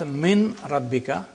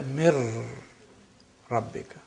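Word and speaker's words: مِن رَبِّكَ: So you don't pronounce min rabbika, you say mir rabbika.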